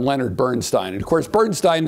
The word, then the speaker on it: Bernstein: And of course, Bernstein insisted on Bernstein, so I seem to be Stein instead of Steen.